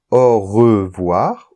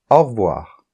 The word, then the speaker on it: au revoir: on ne l'entend pas par exemple on peut dire au revoir ou au revoir au revoir et là on entend pas le e au revoir on dit que le E tombe on l'appelle souvent le